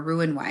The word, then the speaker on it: Roux-en-Y: RNY surgery, or Roux-en-Y is how they say it.